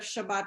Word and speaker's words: Shabbat: Shabbat. They Good say Shabbos. Shabbos. Good Good Shabbos. Shabbos. Yeah. It's the Ashkenazi Yeah.